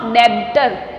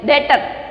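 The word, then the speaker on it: debtor: डी ई बी टी ओ आर, इट्स नॉट डेबिटर, इट इज डेटर, ठीक है। बी is silent in this word, so always pronounce डेटर।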